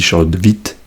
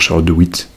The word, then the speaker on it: Charlotte de Witte: Alors, Charlotte de Witt, et je le prononcerai comme je le souhaite, parce que évidemment il y a une prononciation qui est un peu plus germanophone, un peu plus belge on va dire, puisque Charlotte de Witt est belge. Alors je crois que ça se dit Charlotte de Witt, mais moi je vais